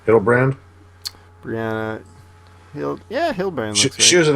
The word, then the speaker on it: Hildebrand: Hildebrand.